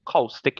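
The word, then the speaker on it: caustic: I should say cowstick injury. That's how it's said.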